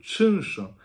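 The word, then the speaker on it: czynsz: Ensuite donc une partie qui est assez intéressante, c'est comprendre le chunch. Chunch S, ça s'écrit Czunch.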